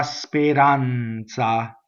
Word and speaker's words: speranza: Okay, but this is stanza, la speranza. So you have two Z's, right? Notice in speranza, it's a flipped R, and it's a closed E because the accent is on the A.